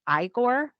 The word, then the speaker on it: Igor: So if you ever watched Mel Brooks's Young Frankenstein, he played Igor. The assistant. They pronounced it Igor there instead of Igor.